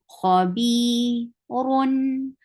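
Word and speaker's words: خبيرٌ: Kha is heavy. B, 2 counts long. Kha, this is 2 counts long. Khabi, run. Or ra is heavy. And when you are pronouncing the tanween, you are giving sifa of tawassut. And tawassut is a medium flow of sound. Khabirun. How will you stop? You will give sukoon at the end.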